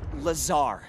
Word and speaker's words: Lazar: and its sales liaison it's lazar actually accent on the tsar but yes i'm your